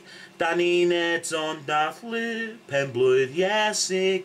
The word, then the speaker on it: Iesu: Iesu, which is Jesus, yeah? So it's basically Iesu, or Iesu, yeah?